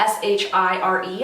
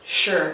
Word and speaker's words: shire: it's around here that it is spelt s-h-i-r-e at the end but it's not sure at the end it's actually shire so sometimes you just